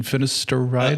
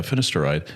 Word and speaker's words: finasteride: hair drug uh finished what's the proper pronunciation finister ride a fenister ride yeah finasteride that's been known to cut